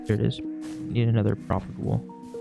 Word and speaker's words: propagule: Need another propagule. Propagale.